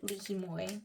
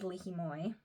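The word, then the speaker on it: li hing mui: the seasoning coating is called red lihimoy that was how my friend pronounced it red lihimoy and these are made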